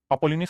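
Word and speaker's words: Apollonius: ए पी O double L ओ एन आई यू एस अपोलिनियस करके एक scientist था mathematician था उसने मिड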